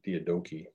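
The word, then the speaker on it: Diadochi: of the deodogy and that's a greek word theodoki probably is how it's pronounced that's a word that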